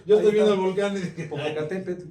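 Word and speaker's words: Popocatépetl: estoy viendo el volcán popocatépet y muchos lo pronunciamos popocatepe Entonces tenemos que empezar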